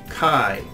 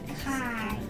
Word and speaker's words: chi: But this letter that looks like a cursive E, capital E, is actually their X, which is pronounced chi. Kai.